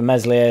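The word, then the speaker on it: Meslier: with a chance for mesli a silent s had a good save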